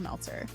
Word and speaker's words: Meltzer: I'm your host, Meltzer. It rhymes with seltzer, and you're in the